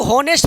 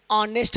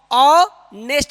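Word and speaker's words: honest: भाई मैंने लिखा ऑनेस्ट इसको हम लोग होनेस्ट पढ़ देते हैं। ऑनेस्ट नहीं पढ़ेंगे मेरे भाई। कह रहा है कि अगर किसी शब्द के शुरू में कंसोनेंट हो उससे पहले वोवेल हो तो ये जो कंसोनेंट है इसके उच्चारण से नहीं बल्कि इस वोवेल के उच्चारण से इसको पढ़ेंगे। इसको हनेस्ट पढ़ेंगे। क्या पढ़ेंगे? हनेस्ट पढ़ेंगे। होनेस्ट इसको नहीं ऑनेस्ट पढ़ेंगे। क्या पढ़ेंगे मेरे भाई? अ ऑनेस्ट पढ़ेंगे।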